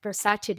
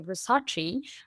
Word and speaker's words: Versace: is actually something that Versace did as well, because I know you tend to say Versace, whereas it's Right. Versace.